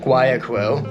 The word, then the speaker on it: Guayaquil: Flew from Iquitos to Lima, Peru, then to Quito, Ecuador, then from Quito to Guayaquil. Actually, you pronounce it differently. Guayaquil. We'll go with Guayaquil.